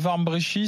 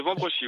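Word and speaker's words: Wambrechies: appelez de Warmbrechy, c'est ça? De Vambrochy, oui. Dans le Nord. Warmbrechy, pardon d'avoir mal prononcé.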